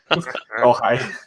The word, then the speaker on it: Ojai: go into their apartment, and then now it's spelled like OHJAI or something like that. Ojai.